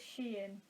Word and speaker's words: Shein: Is it Shein? Is it Shine? Who knows? I'm informed it is Shein. But I don't like that one. That's the worst of all the options, but apparently that's the right answer.